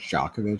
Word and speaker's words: Djokovic: It's pronounced Jovovich. Say Jock, not joke.